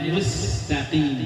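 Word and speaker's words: مستقيم: ihdinasiratal mustaqim ihdinat mustqim yang terbiasa Mus itu dimonyokkan tidak bacanya mustaqim jadi senyum mustaqim coba mustaqim mustaqim Iya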